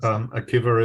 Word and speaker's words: Akiva: How is your name pronounced? Akiva is good.